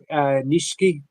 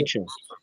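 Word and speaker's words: Nietzsche: Um what do you think about uh Frederick Nishki? I always mispronounce his name. Um, philosophies and also Nietze.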